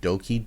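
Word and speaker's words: Douki: Bushi, and I believe the name is pronounced Doki, D-O-U-K-I. So, some the junior heavyweights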